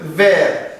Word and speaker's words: verts: J'ai les yeux verts. Sans prononcer les S. Et le S fait pluriel, ne se prononce pas. C'est un lettre muette.